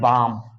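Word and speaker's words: balm: में लगा हो तो उस अवस्था में एल को हम नहीं पढ़ते एल को साइलेंट कर देते हैं तो इसका उदाहरण जैसे क्या है आप देखेंगे बी ए एल एम इसको क्या पढ़ते हैं बाम क्या पढ़ते हैं बाम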